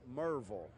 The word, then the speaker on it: Maryville: is subject to change well it's really mu R vu l Merville but if you're a little more sophisticated its em er vu l Mirabal different yeah show